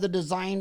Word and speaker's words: T.H.E. Design: When you were the VP of the Design Inc., is that now called Desergo? No, we were T.H.E. design is how we pronounce it.